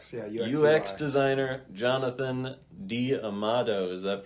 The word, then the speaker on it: D'Amato: UX designer Jonathan D Amado. Is that pronounced correctly?